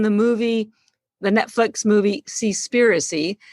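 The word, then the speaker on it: Seaspiracy: not yet seen the movie the netflix movie see spiricy it's spelled s-e-a-s-p-i-r-c-y i urge you to watch it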